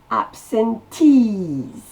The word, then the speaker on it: absentees: The absentees. La syllabe accentuée, c'est le tease.